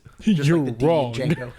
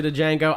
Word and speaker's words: Django: the E is silent Django I will always say d Django I know the D is silent but D Django just